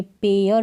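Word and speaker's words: pair: तो यहाँ पर इसको पेर नहीं पढ़ेंगे, पेयर पढ़ेंगे, यानी ए का साउंड आना चाहिए।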